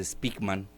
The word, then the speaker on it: Spykman: No es novedoso, viene desde Speakman, se escribe Spykman, es un gran geopolitólogo